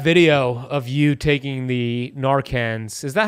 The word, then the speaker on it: Narcan: Okay, so that video of you taking the Narcans, is that how you say it properly? I always feel like I butcher that. Narcans? Narcan. Narcan. Singular. Yeah, Narcan. I've been saying plural.